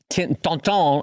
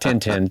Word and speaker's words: Tintin: this really well, where Tonton, I should say, let's pronounce it correctly, not Tintin, Tonton.